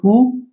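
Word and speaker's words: who: यहाँ पे W silent, तो ये हु बोला जाता है, हुज बोला जाता है, हुम बोला जाता है, हुएवर, ऐसे वर्ड जो होते हैं।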